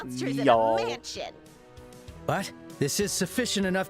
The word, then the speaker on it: Niall: I've been calling Niall Neil this whole time. I think it's been a while since I heard his name pronounced. I was just going off N-I-A-L. Niall.